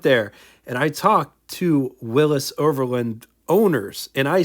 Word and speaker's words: Willys: Yes, Willis is the correct way to pronounce the brand, not Willies.